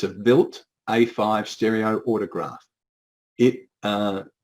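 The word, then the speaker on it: Wild: the machine on the right there is called or pronounced built but it's spelt w-i-l-d-e it's a built a5 stereo autograph it uh aoc had one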